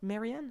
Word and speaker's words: Marianne: Marianne? Marianne. Comme la chanson de So Leonard Cohen.